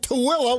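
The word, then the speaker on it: Tooele: in Utah you got SA Juan you got TOA which is spelled t o o e l e you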